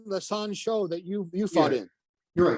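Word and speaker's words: San Shou: So like the San Show that you fought in. You're right. So if am I saying it right? Yeah, San Da, San Show.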